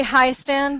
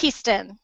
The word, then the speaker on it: Hiestand: interviewing, and it's Hiestand. I said your name right? Perfect. It's a hard name. You know, I would totally say Hiestand, so yes. I want to say Hiestand, but it's Hiestand.